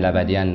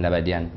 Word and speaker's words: La Badiane: So it's nice to have a name with influence Asia, but with pronunciation of, for in French I use every time La Badiane, La Badiane.